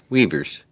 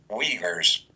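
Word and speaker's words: Uyghurs: what governments those are but weavers that's a pronunciation of that really yeah that i'll do it again weavers weavers okay there's no v there but whatever um camps are started in 2017.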